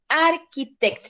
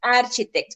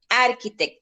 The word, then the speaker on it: architect: wrong red cool excellent sofi now the correct pronunciation is architect it's not architect okay architect thank you now monday who wants to read